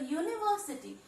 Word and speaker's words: university: University, though it does not begins with a consonant word, still the pronunciation it is making is U. It is Y sound, so it is a consonant. Though it begins with a vowel, but it makes a consonant sound, so we place the article A.